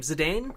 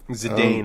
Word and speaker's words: Zidane: my heart when he in how do you pronounce his name Zidane Zidane I think is usually how I've said it